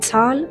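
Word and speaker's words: Zahl: مثال بعدی دی سال دی سال در کلمه سال بعد از حرف آ حرف ها قرار دارد. اینجا حرف آ طویل تلفظ می‌شود و حرف ها خاموش است.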